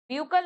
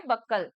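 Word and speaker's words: buccal: ब्यूकल नहीं लड़के, बक्कल।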